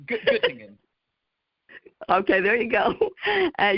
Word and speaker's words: Göttingen: How do you pronounce it? It's Göttingen.